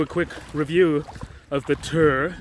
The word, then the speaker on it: TYR: But I said, hey, it's TYR, named after the Norse god of war, not TYR. Oh yeah, look. You see? I know they spell it all caps, but it's TYR.